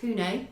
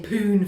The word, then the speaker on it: Pune: operation based in india i'm reliably informed it's pronounced pune cool so i feel like an idiot somebody saying poon for a decade yeah so they kind